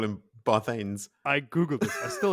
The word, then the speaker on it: Barthanes: Barthanes. Barthanes, Bartholomew. Is it Barthanes, Joe? Because I always Yes. call him Barthanes.